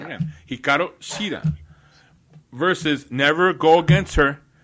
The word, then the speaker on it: Hikaru Shida: Hikaru Shida. I see how I said it wrong again. Hikaru Shida.